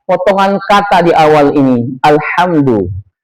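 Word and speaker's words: الحمد: Alhamdu harusnya dia dibaca tipis. Alhamdu. Alhamdu bermakna segala puji. Kalau seorang itu membacanya ditebalkan pakai huruf H besar.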